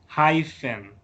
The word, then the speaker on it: hyphen: Miren que la pronunciación de esta P y esta H es como si fuera una F. Hyphen.